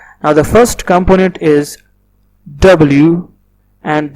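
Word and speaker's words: 我: So this is actually the Pinyin which I was talking about. I told you that a Chinese word is made of these three components. Now the first component is W, and W is the initial, and in Chinese we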